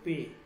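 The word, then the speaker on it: پ: এই মাঝে একটা শব্দ বর্ণ আছে এটা হচ্ছে পে ওকে পে ঠিক আছে আছে আচ্ছা তো আলিফ আলিফ বে পে ওকে পে এই উচ্চারণটা হচ্ছে পে পে ঠিক আছে উচ্চারণটা কি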